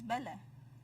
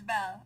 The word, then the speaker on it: Belle: it is pronounced as Bella. Bella. Belle. Oh. Asal dia panggil Bella? Serious ah? Bella. Okay, no, it's Belle.